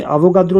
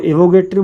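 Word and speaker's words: Avogadro: ठीक है, इसमें अवोगाद्रो लिखा है, इसको एवोगैड्रो बोलते हैं। ठीक है। तो क्योंकि इसका प्रोनाउंसिएशन जो इंग्लिश में है थोड़ा अलग है तो इसलिए अवोगाद्रो और एवोगैड्रो भी इसको बोलते हैं।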